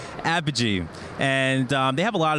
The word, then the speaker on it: Apogee: Apogee.